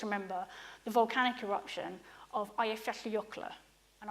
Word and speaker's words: Eyjafjallajökull: the volcanic eruption of ifs ocular and I've been told I've got to try and at least get you to pronounce it but is it is as I understand it I have 50 ocular and it erupted in